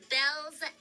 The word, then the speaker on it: Baelz: saying chaos um so yes my name is pronounced belle's class my nickname my nickname is that kid